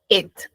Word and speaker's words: ate: pasado la pronunciación es et así ate la pronunciación es et et et ya para que vayas